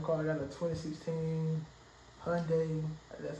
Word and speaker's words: Hyundai: I got a 2016 Hyundai. That's how you pronounce it, Hyundai Accent.